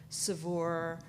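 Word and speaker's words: Saveur: As they say at the office, it rhymes with cat fur.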